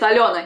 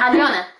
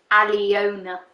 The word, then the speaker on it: Aliona: So al like pal, right? Pal. Yo like yogurt, and na like na. Like it's not easy. It's Aliona. Yeah. Aliona. Yeah. Yeah. Not Aliona, no.